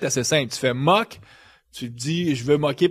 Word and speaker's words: Moq: aujourd'hui donc donc mu c'est M oq comme MCK you en anglais ça fait M you mais en français nous on on appellerait ça m parce que c'est comme ça qu'on le prononce mais c'est M cul les